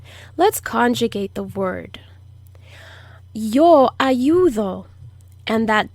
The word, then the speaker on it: ayudo: conjugate the word yo ayudo and that d is also the soft d it's not the hard d as in dog it's the soft d that blows air out ayudo yo ayudo i